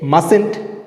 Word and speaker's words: mustn't: Here we should not utter the letter T. Here T is silent, so we say mustn't instead of mustn't.